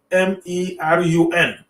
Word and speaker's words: Kamerun: So now Germany became the main colonizing power of the territory of the German Cameroon that is pronounced K, starting with a K, spelled as Kamerun.